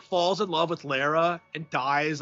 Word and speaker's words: Lara: speaking of Tomb Raider, I love how like Jeff Gilly callers call uh called her like Laura Croft on stage when it's like Lara.